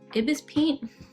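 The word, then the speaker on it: ibisPaint: It's pronounced IBS part except for, oh, okay. Pronounce the IBS part as separate letter.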